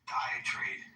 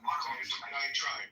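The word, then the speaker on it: diatribe: Um, and by the way, the more I think about Dioenesis, Diet Trade, um, Diet Trap, how do I pronounce that? Diet tribe tribe.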